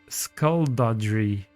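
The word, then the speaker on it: Skulduggery: It's pronounced like the way you pronounce dodge. Then you add the re part. Let me try to read it again. Skullduggery.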